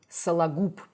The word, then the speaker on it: Сологуб: the last name, Сологуб, Сологуб. So basically, we're talking here about a simple reduction of the vowels which are not stressed. She even pronounced the ending, the last letter, B as P, which is correct.